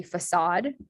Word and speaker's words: facade: crusade is pronounced aid this one would be facade um so that's a slightly different pronunciation where the ah odd sound spelled a d e um krustad is very